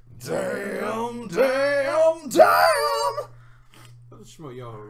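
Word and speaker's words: Schmoyoho: Shmoyoho, Here- accent on the yo.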